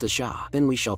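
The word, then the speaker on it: Ш: The symbol after the question mark is a cerillic letter pronounced a sha.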